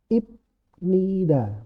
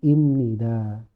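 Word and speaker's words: 입니다: jadi Eng contohnya ya ketika huruf ph atau b ketemu M atau n akan jadi m contoh tulisannya adalah ibnida bacanya jadi imnida habnida jadinya Hamnida abmun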